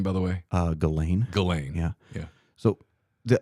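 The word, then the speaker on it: Ghislaine: Uh Galain.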